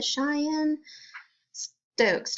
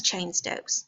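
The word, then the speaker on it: Cheyne-Stokes: Oh you mean the Cheyenne Stokes I'm shying but anyway it's chain Stokes they just didn't know how to say it but it's the same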